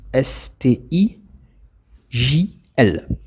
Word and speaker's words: Stijl: le mouvement de style donc c'est du néerlandais ça s'écrit STI JL d e plus loin Stijl c'est un mouvement né